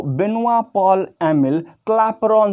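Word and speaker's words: Benoît Paul Émile Clapeyron: इसका जो pronunciation, perfect pronunciation इनके नाम का, इनको बेनोआ पॉल एमिल क्लापेरॉन।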